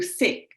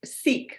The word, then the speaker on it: SEEK: to this thing through sick seek right Sikh it's a long e um and was asked